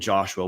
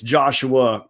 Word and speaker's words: Joshua: Got to see the interviews with the coaches and Joshua Wood. And hey, it's Joshua Wood, not Josh. His mom gave him 3 syllables. We're supposed to use all 3 of them.